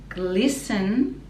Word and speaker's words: glisten: top of the trees glisten so the t is silent and then the end